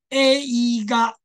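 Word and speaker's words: 映画: 注意看，它是念成 a e ga，对不对？这个。A 跟 E 也是例外的特别的发音，所以请你特别注意看 A 嘎，你有没有发现是 AA 的感觉？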